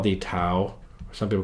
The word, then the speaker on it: tau: There's one called tau. At least we call it tau. I heard there's one of my students, she's Greek, she told me they say it, I think they pronounce it taf in Greek, but I'm going to call it tau.